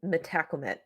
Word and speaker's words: Metacomet: of metacomet bothered you because I know that in some parts of the country it is metacomet but I just want to say I Googled it okay I looked for the proper pronunciation and it was M uh and it was metacomet so I'm just going